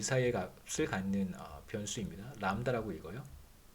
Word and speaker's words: 람다: 람다라고 읽어요.